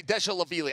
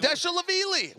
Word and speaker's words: Dvalishvili: Dwa Okay. Lish Yeah. Willie. That's what I'm saying. Dvalishvili. We're saying the same thing. Dvalishvili.